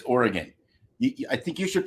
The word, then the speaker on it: Oregon: It's not Oregon. It's Oregon. I think you should pronounce it the way the people that live there.